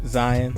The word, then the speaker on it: Zion: And if you don't know who we are, my name is PXPI AK, and this is Zion, like lion. Don't say it wrong.